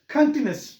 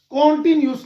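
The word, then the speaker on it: continuous: कॉन्टिन्यूस, जैसे present कॉन्टिन्यूस है तो पास्ट कॉन्टिन्यूस हम पढ़ते हैं, फ्यूचर कॉन्टिन्यूस तो कंटिन्यूस, इसका करेक्ट प्रोनाउंसिएशन है कंटिन्यूस, कंटिन्यूस, कॉन्टिन्यूस नहीं है, तो यह है कंटिन्यूस, कंटिन्यूस।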